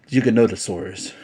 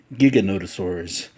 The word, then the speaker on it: Giganotosaurus: call it Giganotosaurus now there is no Rhyme or Reason for how to pronounce this particular name Giga or jiga it's just um I guess whatever your preference is I don't think there is a right or wrong uh way to say it so but um I'm